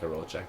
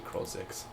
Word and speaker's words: Krolzik: It's not Karolchek. It's actually Krolzik.